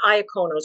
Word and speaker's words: Iacono: The Matera side of my family, so Materas and Iaconos, and actually in Italy they pronounce it Matera and Iacono.